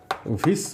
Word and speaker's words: vic: পরেরটাকে আমরা বলছি ভিসিনাল dihalide অথবা ভিস ডাইহ্যালাইড, ঠিক আছে, এটার উচ্চারণ কিন্তু VIC, ভিস হবে।